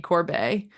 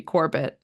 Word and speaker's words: Corbet: mind and that was Brady Corbet whose name I pronounced as Brady Corbett at the time I